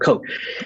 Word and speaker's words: Koch: Robert Koch. Rhymes with hoax.